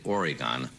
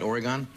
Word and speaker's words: Oregon: How were you ever lucky enough to find someone from the state of Oregon? Did I pronounce it right, Oregon? No. Oregon.